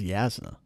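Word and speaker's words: Jasnah: like I mean jasna Brandon says yazna and it's just like okay fine if her name's yazna spell it with a Y why are you spelling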